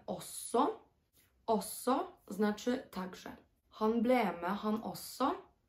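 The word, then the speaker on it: også: Złączone wymawiamy osso.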